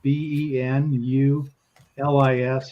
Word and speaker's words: Bill Benulis: And the interesting thing is that the cover is by some guy by the name of Bill Benulis, if I'm pronouncing it correctly. It's Benulis.